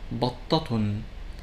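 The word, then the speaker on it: بطةٌ: For example, the word batta, which means duck, when it has tanween with dhamma, it is pronounced as battatun. When it has tanween with fatha, it is pronounced as battatan. And when it has tanween with kasra, it sounds as battatin.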